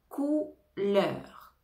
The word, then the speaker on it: couleur: le mot couleur couleur ici attention on a le son ou donc le O U va donner le son ou couleur couleur couleur compagnie compagnie